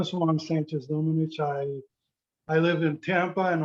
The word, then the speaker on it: Juan Sánchez-Domenech: We are recording, and it is time for the session on iridology and hypnosis with Juan Sánchez-Domenech.